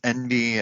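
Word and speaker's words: enby: these days um and it's just the phonetic spelling of what it sounds like to say in b as in the n and the b of non-binary however you do not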